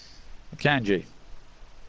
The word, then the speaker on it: Akanji: Same guy, just correctly pronounced. Akanji.